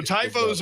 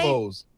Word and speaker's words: tifo: What are they? Tifos. Tifos. Oh, Yeah. Tifos. Wait, what? They're called TIFOs.